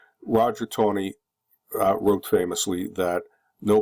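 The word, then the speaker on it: Taney: was uh Roger B Tony retain T NE y although the family pronounces it Tony Roger Tony uh wrote famously that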